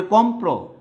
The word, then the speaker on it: কম্প্র: তারপরে কম্প্র, ক ম প রফলা উকার।